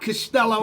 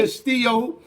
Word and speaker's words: Castillo: Let me say it right. It's not Costello. You said it it's right. Castillo.